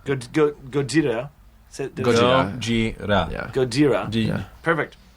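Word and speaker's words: ゴジラ: It's actually pronounced in Japanese. I believe it's pronounced Gojira. Gojira. Gojira.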